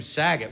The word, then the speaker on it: Saget: an urn on the window my last name Saget which rhymes with stuff you know I didn't grow up